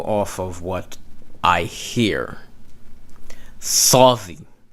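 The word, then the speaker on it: Tsadi: Saudi. Saw. It's close to the back of the throat, but not quite there. Saw. It's like me saying caw. Okay? Saw. Caw. It's like a crow.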